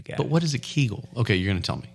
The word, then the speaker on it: Kegel: for men that sounds like a hair product kegels for men what's a Kegel so Kegel you spell that k-e-g-e-l okay Kegel now I after looking